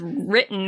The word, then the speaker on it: written: Why is written with a W? Because it goes w. You don't say we're written. That book was written. Written. We have a lot of silent letters.